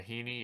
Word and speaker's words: Heaney: Not Paul Skeens, but Andrew Heaney. I don't know if that's how you say his name. Yeah, Heaney.